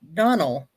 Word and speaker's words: Donell: once I tell people Donell is pronounced like Russell so it's Donell Donell now I'm saying